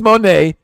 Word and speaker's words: Moné: Because Mercedes Moné is Moné.